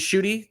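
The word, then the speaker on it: Ncuti: watching it in English you pronounce it as shooty thank you for the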